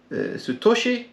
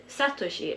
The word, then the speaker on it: Satoshi: what is the trainer sutoshi name in English I remember pronouncing it wrong yeah I think if you should probably mean Satoshi and that is Ash